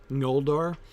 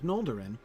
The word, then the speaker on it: Noldor: trying to teach me how to pronounce that tilde over the N at the beginning in Noldor. I've been practicing. I've been trying to work on that. It's hard because we don't do that in English. The ng sound at the beginning of words or syllables.